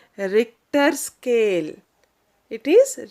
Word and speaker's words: Richter: with an instrument called richter scale it is richter scale h is silent here okay and people who